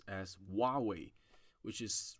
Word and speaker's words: Huawei: it but in chinese anytime you see a h you should pronounce that so for example there are there's a uh there is a brand in chinese which is huawei i i i hear